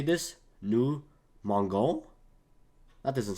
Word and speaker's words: mangeons: You want to keep the E because this way it would sound like mangeons, mangeons.